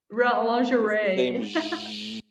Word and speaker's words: lingerie: no i'll just say in english we're probably not saying it the way the french do but it's pronounced lingerie lingerie sound again long lush